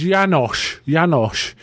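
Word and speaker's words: János: from this film, and his name is pronounced Janosch in the film, but it's actually Janos.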